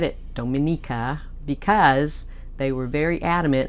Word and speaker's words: Dominica: So many people think that Dominica and the Dominican Republic are the same place. They are not. So, and you don't even pronounce the first part of their name the same.